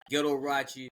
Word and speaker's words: Ghettorauchi: up with the name Ghettorauchi? I hope I pronounced that right. You said it right. I got the shirt on too, just so people can see it. Ghettorauchi, spelled Ghettorauchi. Ghettorauchi rhymes with Liberace, except I ain't gay.